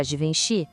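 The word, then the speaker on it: Givenchy: Para Divenchi, o segredo é o G com som de J suave.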